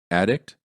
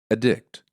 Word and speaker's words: addict: The following pairs of nouns and verbs are spelled the same but pronounced differently because of changing syllable stress. Make sure you reduce the vowel in the unstressed syllable.